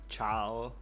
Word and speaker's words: ciao: I I don't know how to spell it, but ciao m maybe that C with the weird accent is an E. It's pronounced the same. Oh, that makes sense. C is like the English ch.